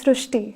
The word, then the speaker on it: Srushti: srti but this is a very unique name STI so in marati the word r is pronounced as Ru so that is why the pronunciation goes STI so uh hereby the spelling sir so you